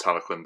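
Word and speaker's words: Talyllyn: Um, I've actually seen Talquin um at Walle at the NC in Birmingham. I had my photo taken alongside it. Um, and Talquin was the one that um is pronounced Taloquin, by the way.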